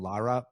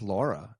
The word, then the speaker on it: Laura: And I don't know why you had to pronounce her name Lara, but what's her name? I think it's Laura.